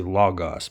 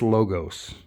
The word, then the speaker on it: logos: be translated into logos some people say lagos but i think they're wrong it's logos it's too hard o's but that's just me